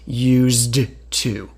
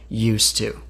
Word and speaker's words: used to: Used to has a D, but we don't hear the D. No one actually says used to, because that's too difficult to say. We just say used to.